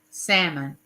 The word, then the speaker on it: salmon: patties but it's really salmon you know because the L is silent and uh but James